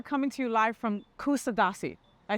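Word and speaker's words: Kuşadası: to you live from kusadasi I said that right John uh the right pronunciation is Kush ad Kush ad yeah in Turkish language it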